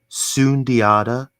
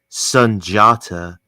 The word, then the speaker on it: Sundiata: So the one that I go by the most is Sunundi, but another valid pronunciation for both of my names would be Sunjata. So, um, huh.